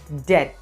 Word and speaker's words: debt: word is pronounced as dead the b here is silent so we say dead